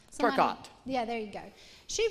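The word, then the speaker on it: TerKeurst: Turcott.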